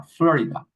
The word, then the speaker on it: Florida: En Estados Unidos, cuando lo pronuncian, le hacen énfasis en la primera, Florida, Florida, ¿ok?